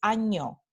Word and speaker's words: año: Este fonema es ñ, like onion, ñ, ñ, ñ. Entonces, la letra en español que representa este sonido es la N con esta pequeña diacrítica aquí arriba, the little squiggly on top, ¿no? Una palabra de ejemplo escrita con ortografía convencional es año, ñ, ñ.